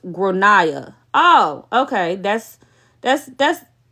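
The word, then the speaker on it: Gráinne: that the kid is called grainy gr generally pronounced gronia oh okay that's that's that's what that don't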